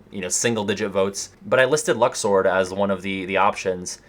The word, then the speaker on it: Luxord: And like, you got Lux, Lush, you know, like, well, actually it's Luxord, right? I haven't been saying it right this whole time, but it's like one